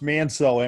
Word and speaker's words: Manseau: It's pronounced Manseau, M-A-N-S-E-A-U. It's pronounced M-A-N-S-O.